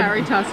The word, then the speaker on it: Caritas: choice this year for the, I want to pronounce this right, Caritas Award. Caritas Award, right.